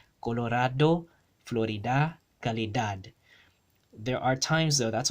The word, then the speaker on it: calidad: For example, the word calidad, right? Calidad, that d, both of the d's there are both pronounced calidad. They are both hard pronounced as a d, right?